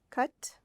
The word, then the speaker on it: cut: Cut, cut, see? So cut has a short U sound.